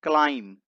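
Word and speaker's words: climb: ही क्लाइम्ड up there, इसे पढ़ते हैं क्लाइम। इसमें बी साइलेंट है, तो यहां पर हो जाएगा ही क्लाइम्ड अप देयर।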